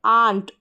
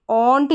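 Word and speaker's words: aunt: फिर है आंट, ऑन्ट नहीं पढ़ेंगे क्योंकि ए यू का उच्चारण ओ भी होता है, यहाँ पर है तो आंट।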